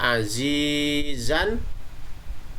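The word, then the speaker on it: عزيزا: Contoh yang lainnya juga azizan, dibaca di akhir kalimat terkena hukum mad iwad jadi aziza.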